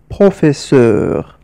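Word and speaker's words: professeur: الكلمه هكذا تعن التلاميذ بروفيسور ل بروفيسور انتبه جيدا لحرف ا الذي ياتي مباشره بعد حرف اف بروفيسور بروفي ننطقها اي بروفيسور ولم نقل نقل نقل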